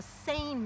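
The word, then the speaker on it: seine: center and we're pulling what they call a sane net it's called it's spelled s-e-i-n-e saying that and it's basically just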